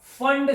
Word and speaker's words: Pfund: ये यहां से, ये सब यहां से आओगे तो ये बनेगा फंड सीरीज। लेकिन स्पेलिंग में होता है PFUND, P साइलेंट होता है, ध्यान रखना। तो ये फॉर्मूले बना ही सकता हूं, कितना क्या आलस किया इसका भी।